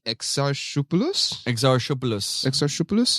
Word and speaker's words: Exarchopoulos: I don't know how to pronounce her last name. It looks Greek. Exarchopoulos. Is that how you would say it?